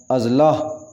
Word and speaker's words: اضلاع: آئے گی، مطلق۔ اضلاع، صحیح تلفظ ہوگا اضلاع، الف کے اوپر زبر آئے گی، اضلاع، اس کو پڑھیں